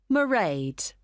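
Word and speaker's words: Mairead: do you spell that it's m a i r e a d marade okay got that it's not a name I'm familiar with oh it's an Irish name she comes from Dublin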